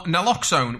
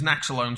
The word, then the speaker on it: naloxone: They would either have salt water, a placebo, fentanyl, which is an excellent opiate painkiller, or naloxone, which I keep mispronouncing as naxalone, so if I fall over and spoonerize that, please forgive me.